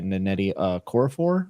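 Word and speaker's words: Nnedi Okorafor: And then on top of that, I also started Death of the Author by Netti uh Coraphor, I believe is how you say her name.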